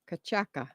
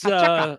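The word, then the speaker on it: Cachaça: Kachaka. It's liquor. Oh, all right. Kachaka. Caca. Right, that's totally different. That might be caca. Right. It's a type of rum. Oh, gotcha. Today's Kachaka.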